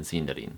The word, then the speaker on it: Sindarin: It sounds much more like the letter I you'd find in the word machine rather than in the word in.